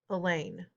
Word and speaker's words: Elaine: Even in the lunchroom, Elaine rhymes with pain.